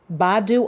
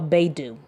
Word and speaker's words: Baidu: Okay, so it's either pronounced as BAIDU or BAIDU.